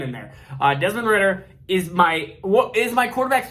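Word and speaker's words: Desmond Ridder: It is Desmond Ritter. I keep saying Ryder. Why do I keep saying Ryder? Desmond Ritter.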